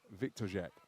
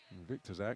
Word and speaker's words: Viktorzak: VIKTORZAK, when I've seen him in the past at that European qualification event, his family name was spelt with a W, which gave us the V sound.